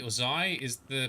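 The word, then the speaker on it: xi: for you like pie so it's zai that's how you pronounce it cool thank you all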